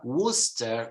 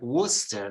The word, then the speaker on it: Worcester: like Lester gluster Musta Worcester Worcester not World War whatever is famous for